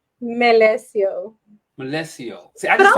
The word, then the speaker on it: Melecio: Melecio. Melecio.